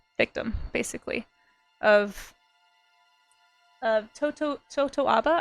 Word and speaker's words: totoaba: basically of of Toto totoaba I believe is how you say the fish um totoaba hunting and